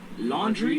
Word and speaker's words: Laundrie: How you say it? Brian Laundrie. Laundry? Like laundry.